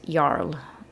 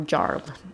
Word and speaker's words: Jarl: Um and Nora is like oh right that's where I was supposed to meet Yarl uh is what you remember now or Jarl is the English way of saying that.